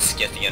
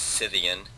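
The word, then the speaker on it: Scythian: with a K and I believe that has a hard K pronunciation in Greek but I I guess in English we the correct pronunciation is cyan but I don't want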